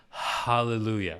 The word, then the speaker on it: hallelujah: an underrated thing is he's actually pronouncing the H in hallelujah hallelujah I can't tell you